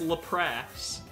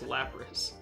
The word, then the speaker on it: Lapras: Talk about your Lapras pronunciation cuz Lapras. It's not Lapras. It's It's Lrass. Lap. It's Lapras.